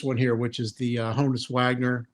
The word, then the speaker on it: Honus: here, which is the Honus Wagner. Honus, not Honus. 1910. It's a candy issue, no diamond. It is the rarest Honus Wagner issue, I think, in existence.